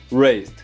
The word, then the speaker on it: raised: Pronuncie o A como se fosse um E e não fale o E nessa palavra. Raised, raised. O A aqui tem som de E e você pode conectar com o up.